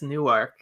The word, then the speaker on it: Newark: delaware it's newark yeah in delaware it's newark it's spelled it's spelled the same though spelled the same but delawareans will get very upset if you go there and you pronounce it wrong way and then they